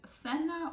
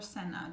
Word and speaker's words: cena: Next one, if you have C and E, like the C and E in Espanol, then that would give you the sound C in Spanish, which is Castellano, in Spain. But in South America, it's just gonna sound like S, just like the same S sound, S. So the word cena or cena, depending on the country, it means your cena, dinner, of course.